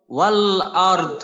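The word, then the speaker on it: والأرض: হ্যাঁ একটা হলো র মোটা, তারপর দদ মোটা, রয়েও জজম দদেও জজম করবো, তো দদের উচ্চারণ করাটা একটু কষ্টকর হয়ে যায়, তবে করতে হবে।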